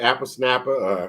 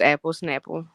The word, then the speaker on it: Apple Snapple: Apple Snapper or did I say it right? Yeah it's Apple Snapple.